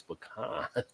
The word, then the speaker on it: pecan: to the according to the Webster Family it's pecan I mean we know what we mean if